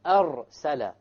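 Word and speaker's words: أَرْسَلَ: or dhamma, for example, arsala, linursila. Notice now the arsala, the ra is silent, but before it is a fatha. Likewise, linursila, the ra is silent, but before it is a dhamma.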